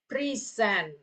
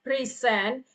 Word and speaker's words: present: Oke present to present is a verb and then a present is a noun.